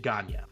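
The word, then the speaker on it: Gagné: yep burned onion gagne you can say gagne he pronounced it oh did he okay i'm just saying someone in quebec i am sure historically it was pronounced yes but he pronounced it ganya all right this conversation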